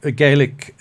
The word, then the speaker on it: Gaelic: Well, talking about Celtic culture, apart from English, is Gaelic spoken widely? Yes. Can I just explain that? Gaelic is how it's pronounced in Scotland for Scottish Gaelic, and Gaelic is Irish.